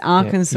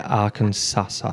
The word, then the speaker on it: Arkansas: Arkansas. You call it Arkansasasa. Yeah. Yeah. Well, it's because of the way it's spelled.